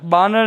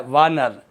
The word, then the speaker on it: वानर: बानर। बानर नहीं होता है, क्या होता है? वानर।